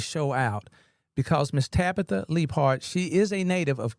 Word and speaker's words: Leapheart: Am I saying it right? Leaphart or Leap? Yeah. Okay. Leaphart. I'm missing the H. Leaphart.